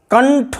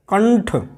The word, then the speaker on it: कंठ: देखिए ट है, टा के पहले अनुस्वार का देखिए ना की आवाज़ आ रही, कंटक, कंटक, कंटक, कंठ। अब ठा के पहले है, देखिए ठा वर्ग जिस वर्ग में है उसका पंचम वर्ण न है, तो कंठ।